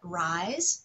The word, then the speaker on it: Rise: host and today I am joined by rise is that right is that how you pronounce that's right rise awesome so my new best friend we just